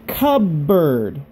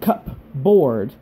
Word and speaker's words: cupboard: milk orange juice cupboard say with me say cub bird very good cupboard it's spelled like cup board but we say cupboard very good towel chair